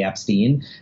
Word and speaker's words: Epstein: correct way in our family is to say Epstein then like why doesn't Brian correct people like